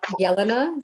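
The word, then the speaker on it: Jelena: It's Yelena. J's pronounced as a Y. Yelena, like Johan.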